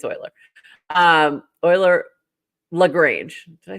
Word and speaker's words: Euler: So anyway, if you don't know what that song is, I can't even I will forever pronounce it Euler. Euler, like Ferris Bueller. Euler. And I don't care if I'm wrong.